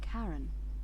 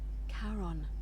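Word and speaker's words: Charon: it's just as you described it only your pronunciation is a little off the name you heard wasn't karen it was c-h-a-r-o okay caron the ferryman of the dead okay helps the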